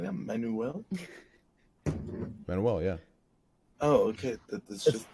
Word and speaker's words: Manuel: You put so much emphasis on the U that I was like, Manuel.